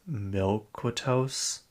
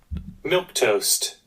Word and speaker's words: Milquetoast: Milquitosis? Wow, okay. It is spelled Milquetoast.